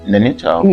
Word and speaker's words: Nainital: Oh, Nainital. Yeah. I think I'll go to Nainital. You pronounced it right.